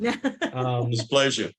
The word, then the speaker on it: dysplasia: support the National Foundation for Ectodermal, I can't pronounce this word. Dysplasia.